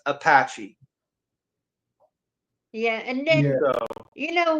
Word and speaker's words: Apache: Yeah, it's it's Apache. Apache. Yeah, Apache. I know it's the way it's spelled because the way it's spelled I I used to joke around and say apachi just the mess with my mom she would get so heated about it I would say apachi she's like that's not